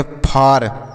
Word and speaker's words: far: उसी तरीके से एक शब्द और है FAR, इसे हम पढ़ते हैं फार। इसे फॉर नहीं फार पढ़ेंगे, केवल फार।